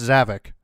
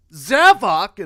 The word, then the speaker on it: Zavok: You'd think Zavok would be pronounced Zavik, but... Yeah, that's how I pronounce it. Then he says it in Sonic 4... What? I was saying, like, that's pretty much how I pronounced it up until Forces, because I figured it made sense, because, Havoc, yeah. Zavik. But, like, then you hear it in Sonic Forces, and it's like, Zavok!